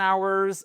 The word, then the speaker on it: hour: So I work n hours a day. Attention 1 heure et même 1000 he ça sera toujours sans la prononciation du H.